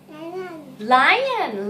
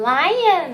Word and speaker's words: lion: Lion. Lion นะคะ เป็นแบบออกเสียงยอยักษ์ไปเลยนะคะ ไม่ใช่ lion นะคะ เป็น lion.